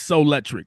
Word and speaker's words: Souletric: yeah, I should have told you the pronunciation of that because people who just meet me for it's Souletric. That's how you Souletric.